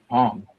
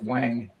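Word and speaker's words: Hoang: But it's spelled H O A N G. So I always said Hong H. But it's Wang.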